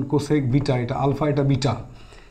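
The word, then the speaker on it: cosec: beta কোসেক beta মানে কি দেখো কোসেক বিটা উচ্চারণ কোসেক বিটা এটা আলফা এটা বিটা এই কোসেক বিটা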